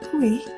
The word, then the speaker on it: kuih: However, the difference is that kuih is pronounced as double syllable, whilst the word koe in Hokkien is pronounced as one syllable.